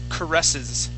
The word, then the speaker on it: caresses: Okay, now this word here is caresses. Caresses. Good, yeah, caresses with the accent right here.